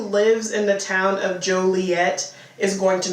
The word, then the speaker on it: Joliet: The town is called Joliet. So like Romeo and Juliet. Yes. But it's spelled J O L I E T.